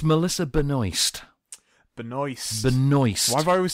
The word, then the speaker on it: Benoist: It's Benoist. Which, Benoist. The only problem with saying Melissa Benoist is, what do you think of? Noice. I wasn't going to say that. I was going to say that it rhymed with moist, which isn't let's isn't not go as there.